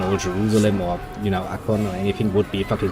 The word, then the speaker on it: Akkon: And I hate the English pronunciation, which is why I'm gonna pronounce it in fucking superior German. True that. Akkon sounds better.